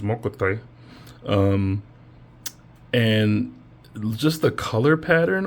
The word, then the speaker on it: Mokuti: So this is Mokuti, which is, I say it wrong, but I like the way I say it versus the proper way to say it, which is Mokuti.